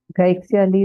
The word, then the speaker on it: Gaixia Lee: Gaixia Lee, or is it Guixia Lee? So I just want to ensure that I'm getting the name right. Gaixia Lee is correct.